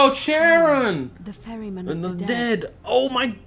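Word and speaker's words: Charon: oh just as you described it only your pronunciation is a little off the name you heard wasn't karen it was c-h-a-r oh sharon the ferryman dead oh my god it's him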